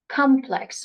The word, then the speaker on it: complex: Either you can put the stress at the beginning or you can put the stress on the second syllable.